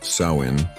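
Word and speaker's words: Samhain: Nowhere was this more true than in the Celtic lands of Ireland and Scotland where the ancient festival of Samhine pronounced Sain marked the transition from the light of summer to the darkness of winter.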